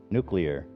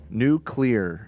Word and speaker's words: nuclear: there nuclear nuclear nuclear nuclear it's very similar it's nuclear I'm saying it right I'm saying you're right new clear new nuclear yeah nuclear yeah two two syllables nuclear yeah I think